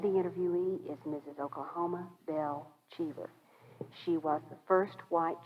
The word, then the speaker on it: Cheever: Cheever, and I pronounced that correctly, right?